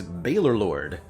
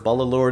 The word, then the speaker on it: Baalorlord: here hey julie heart my preferred pronunciation is bailorlord but baller balalord is usually fine too i've had people call